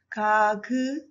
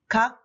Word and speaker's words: 각: So you should read these three as just one sound. Kak, kak, kak.